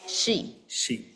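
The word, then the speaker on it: 四: the pronunciation yeah pronunciation then number four we pronounce it y y or we also say she she yeah she means you know death yes so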